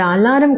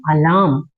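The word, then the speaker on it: alarm: ஸோ அது அலாரம் கிடையாது. ஆர் வந்து சைலண்டா இருக்கணும். அலாம், நாட் அலாரம், அலாம்.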